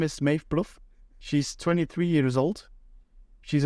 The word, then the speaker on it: Maeve Plouffe: I've got to admit, I had to look up some interviews to pronounce her name the right way. But her name is Maeve Plouffe.